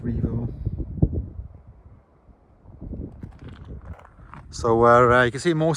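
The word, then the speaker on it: Jervaulx: Revo Abbey starts with the letter J, so it's spelled Jervo, pronounced Revo.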